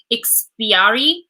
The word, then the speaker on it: Ikspiari: I think it's pronounced Ikspiari.